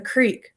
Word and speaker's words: creek: yeah roof or crick my grandpa always used to say the crick running through the property and i'd be like grandpa the creek nope the crick oh thank goodness somebody